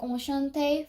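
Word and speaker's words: enchanté: Well, when you speak Enchante for girls or for boys, no matter what, the speaking part, the pronunciation part is the same, as it only differentiates between how you write.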